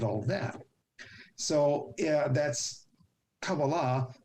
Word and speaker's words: Kabbalah: that so yeah that's kabbalah means you speak hebrew if you want to call it kabala that's fine because i hate these these